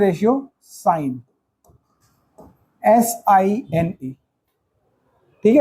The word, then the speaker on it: sine: सिन, short form है सिन, लेकिन पढ़ते हैं इसको साइन ही है, ठीक। यहाँ से भाई इतना तो आप लोग ज़्यादा अंग्रेजी जानते हो मुझसे, यहाँ पे ई लगा हटा दोगे तो ये इसका प्रोनाउंसिएशन चेंज हो जाएगा। तो ये हो गया सिन, बट बोलेंगे इसको साइन, और इसको लिखते हैं